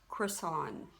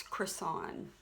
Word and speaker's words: Creson: last name it's pronounced Chris on kind of like a Burger King croissant but it's Chris on and what is my